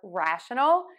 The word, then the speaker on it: rational: a reason or explanation these words are pronounced very similarly but the stress is going to be a little different so let's focus on